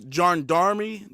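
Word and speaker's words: gendarmerie: team of national uh and that's a French word right there is John Darmmy John Darmmy I'm not French I don't speak French but that's how the word is pronounced John Darmmy right and intervention group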